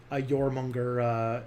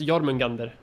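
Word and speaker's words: Jörmungandr: That's Jormungandr. There we go. I might not have the best pronunciation of that because it's Old Norse, which is like 1,000 years ago. But I think it's Jormungandr. Question for Mia: is Grindr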